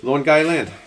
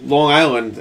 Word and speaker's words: Long Island: Long Island. What? So Long Island, it's lawn, like grass, guy, and then land.